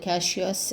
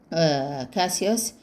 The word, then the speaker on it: Cassius: Of course, they are pronounced in two ways, Cassius and Cassius.